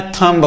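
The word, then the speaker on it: thumb: तो एम के बाद अगर कभी भी बी दिखाई देता है। तो बी हमेशा साइलेंट रहता है। आज तक हमने पढ़ा है। अच्छा आप खुद ही बताओ। ये क्या लिखा गया है? टी एच यू एम बी। हम बचपन से पढ़ने आए थंब होता है।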